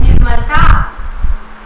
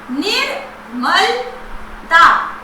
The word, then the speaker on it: निर्मलता: चौथा शब्द है निर्मलता। निर्मलता, यहां पर आपने सुना होगा र का उच्चारण पहले सुनाई दे रहा है, लेकिन उसका प्रयोग म के ऊपर है।